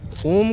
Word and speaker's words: ओम: ओम जो है तीन लेटर से बना हुआ है इंग्लिश का। ए यू एम। पहले उसका प्रोनाउंसिएशन है अ फिर उ और फिर उ एम।